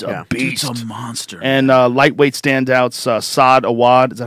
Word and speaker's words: Saad Awad: And lightweight standouts, Saad Awad. Is that how you say it? Syed Awad.